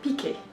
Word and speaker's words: PK: Donc le film que j'ai choisi aujourd'hui, il s'appelle Piqué. Donc ça s'écrit P-K et c'est un film hindi qui parle d'un extraterrestre que les gens appellent Piqué.